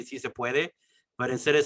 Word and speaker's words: puede: like in a certain area, and she was like, "Si sin puedes" or something like that. She like Oh, sí se pronounced, puede.